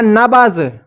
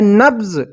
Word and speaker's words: نبض: کر دیا، نبض، یعنی ہم نے اس بے کو آدھا پڑھا، اور اس کے لیے